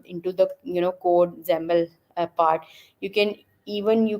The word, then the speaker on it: XAML: know familiar with XML when I say xaml it basically is it's spelled out as x m a l right so it's pronounced as xaml it's and kind of